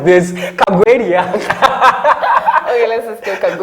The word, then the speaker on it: Kagwiria: Kagweria, I pronounced it right? No. Kagwe? No, you didn't. Say it. Kagweria.